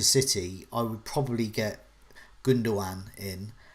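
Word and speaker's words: Gündoğan: i would probably get gunduan in i've been told not to pronounce the last g uh in the live chat so it's gunduan so hopefully i've got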